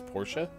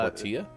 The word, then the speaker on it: Portia: Wait, that's how you say it, is Portia? Yeah. Not Portia? Nope.